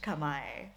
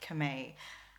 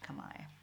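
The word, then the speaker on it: kamay: means hands guess why so that's pronounced kamai i know that i think a lot of english speakers will want to pronounce it kame but it is indeed kamai so that is all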